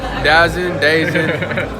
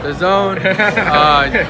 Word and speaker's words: DAZN: Subscribe to the Dazn, whether you pronounce it Dazn, the Zone.